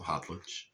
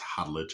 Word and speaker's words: Khadlaj: I I know a lot of people say caut because the k but in Arabic that kh uh is that it's a little weird. The k is a little silent.